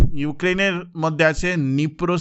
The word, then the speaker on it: Dnipro: তো ইউক্রেনের মধ্যে আছে নিপ্রো সিটি, ডিটা সাইলেন্ট থাকে, which is in news due to missile attack, ঠিক আছে।